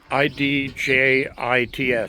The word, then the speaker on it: idjits: But yeah, I'd like to get this whole thing roped off to keep the idjits, I-D-J-I-T-S, idjits. That's a different pronunciation of I-D-I-O-T-S.